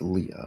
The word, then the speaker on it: Leah: I think it's no I think it's Leah uh I find okay how do you pronounce this thing I'm gonna find out Leah yeah it's Leah okay Leah um see me